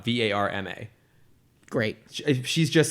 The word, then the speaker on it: Indira Varma: So it's Indira, Indira, Varma, Varma.